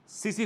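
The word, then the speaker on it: tsetse: Secondary host होती है एक मक्खी जिसको बोलते हैं सीसी फ्लाई बोलते हैं, TSE स्पेलिंग है पर उसको सीसी फ्लाई कहते हैं, ग्लोसिना पॉलपेलिस के, पूरा नाम इसका है ग्लोसिना पॉलपेलिस।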